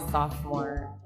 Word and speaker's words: sophomore: spelled like that actually it's a weird spelling we but it's pronounced a sophomore sophomore I had no idea